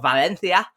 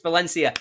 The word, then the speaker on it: Valencia: from the University of Valencia in I don't know why I pronounced it like that either. It's Valencia.